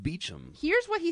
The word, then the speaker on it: Beauchamp: And then you say, then you quote, is it Beauchamp or Beauchamp? I don't know how to say it. Beecham, really? Well, that's what it says in his little bio in Vox. Bio? It's pronounced Beecham.